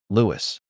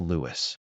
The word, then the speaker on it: Louis: Lewis. This part is pronounced Lewis. Think of the name Louie like the famous jazz musician Louis Armstrong. The S is completely silent.